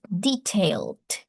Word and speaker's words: detailed: So, this is detailed. Detailed. Detailed. The last e is not pronounced.